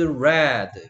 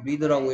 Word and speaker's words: read: This comic book is red 라고 읽어야 되는 거 알죠? read라고 읽으면 안 되는 거 알죠?